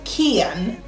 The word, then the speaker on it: Kian: So the way to pronounce his name is Kian, K-I-A-N, and there are a few reasons why we chose the name.